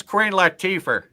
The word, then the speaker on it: Queen Latifah: How do you pronounce her name again? It's Queen Latifah.